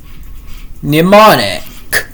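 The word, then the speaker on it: mnemonic: Anyway, uh the the word is pneummonic. Well, well, you know, when M is followed by N, it doesn't say it it doesn't it doesn't m doesn't say anything. instead it's just uh it's just n anyway.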